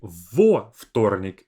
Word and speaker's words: во вторник: We don't say в, we say во вторник я работаю. So во, we have this extra o there because вторник starts with two consonants. And instead of saying вторник as a long three consonant cluster, we separate it with во вторник, adding a bit of space with a vowel.